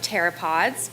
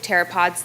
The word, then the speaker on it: pteropod: the wonderful world of pteropods but first I have a joke why can you hear a pteropod go to the bathroom because the P is silent come on guys you'll